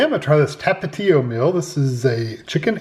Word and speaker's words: Tapatío: of Mexico that's Tapatio um how do you pronounce tapao it's tapao tapao then about us and here's how to cook